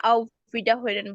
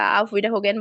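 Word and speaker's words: Auf Wiederhören: না, ফোনে আপনি ইনফর্মাল হোক ফর্মাল হোক সব ক্ষেত্রেই আপনি হচ্ছে আউ ভিডা হইরেন বলবেন, হ্যাঁ, বা আউ ভিডা হোগেন বলবেন। হরেন বলেন, হোগেন বলেন, মানে হুম, আটটাকে অনেক সময় গয়ের মতো উচ্চারণ হয়।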